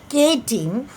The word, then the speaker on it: chitin: The spelling is chitin, chitin, but it is pronounced as chitin, which protects their soft internal organs.